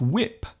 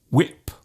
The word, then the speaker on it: whip: And instead of whip, they might say whip. There is actually no need to pronounce the H so strongly. Just let the sound leave your lips naturally. When, what, whip.